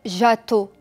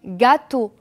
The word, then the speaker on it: gâteau: quoi comme gâteau d'accord je vais pas dire jatteau non c'est faux je dis gâteau donc le son g